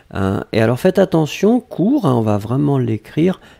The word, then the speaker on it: cours: Et alors, faites attention, court, hein, on va vraiment l'écrire, C-O-U-R-S. Donc, S final qu'on ne prononce pas, mais il doit être là, d'accord ?